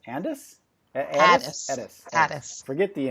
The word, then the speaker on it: Ades: name is, and is the last name pronounced Ades? Ades. Forget the N, we don't need that, Ades.